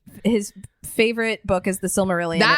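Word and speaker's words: Silmarillion: But to him, but his comfort movie and his comfort book is the Smurillion. It's the Sylmerelion.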